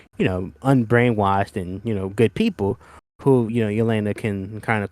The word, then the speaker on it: Yelena: But now that we know, Leona. Yelena, that's how you pronounce her name.